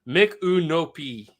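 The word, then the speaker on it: Micanopy: By the way, it's pronounced Mikunopi.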